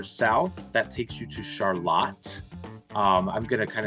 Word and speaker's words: Charlotte: or from the East Coast that definitely says Charlotte to you right and I had to learn the hard way when I first learned here it is actually pronounced Charlotte here in town so just just giving you